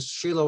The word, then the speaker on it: Shiloh: Galilee, Shechem, and Shiloh, or Shiloh, but Shiloh is actually the pronunciation, Bethel, Jerusalem or Jerusalem, Lachish, and Hebron.